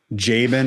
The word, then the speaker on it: Jaban: as in DR period, Jabin, my first name, which is the complicated part.